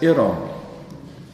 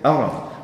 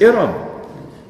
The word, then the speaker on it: Iram: That's Iram. They say Aram. Or they say Aram, but it is Iram.